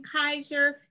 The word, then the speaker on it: Kaiser: And Kaiser, am I pronouncing that right? Yes, you are. Just like the role.